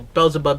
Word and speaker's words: Beelzebub: like to read uh bill bells whichever you prefer i know bells above is how us americans say it this is america but